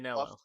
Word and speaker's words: Manganiello: And I always forget how to pronounce his name. The guy from Magic Mike, Joe, the big buff. Manganiello.